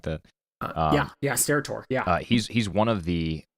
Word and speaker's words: Steratore: How do you pronounce his last name? Stedatore or something like that. Yeah, Steratore.